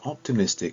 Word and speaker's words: optimistic: called word stress now this word optimistic has four syllables one two three four but only one of those syllables is stressed i wonder if you know which one it is optimistic i'll say it again optimistic that's right it's the third syllable optimistic okay so when